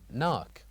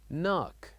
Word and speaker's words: knock: What is the silent letter in this word? Knock. Knock. The silent letter here is K. Here we wrote K but we don't say it. We say knock.